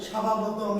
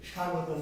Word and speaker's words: স্বাগতম: প্রধান অতিথির আগমন স্বাভাগতম, স্বাভাগতম, তাই না? প্রধান অতিথির আগমন স্বাভাগতম, স্বাভাগতম। স্বাভাগতম কি? স্বাগতম। বয়ের উচ্চারণ আমরা করব।